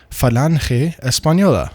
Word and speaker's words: Falange Española: part uh take power in Germany called the Falange Española. Again, I'm pronouncing it properly once, and now I will drop the uh uh the pretentious pronunciation S pañola.